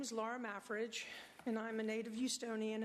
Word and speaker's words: Mafrige: Hall next speaker Laura Midge Laura my fridge my fridge MAF thank you it's been pronounced many ways my name is Laura mafrige and I'm a native eonian and a business